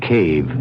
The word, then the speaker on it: cave: For myself, I equate cave with the Latin word spelled the same way, C-A-V-E, but pronounced cave.